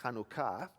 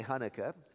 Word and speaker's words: Chanukah: I think it's pronounced Chanukah, but I'll say Hanukkah today.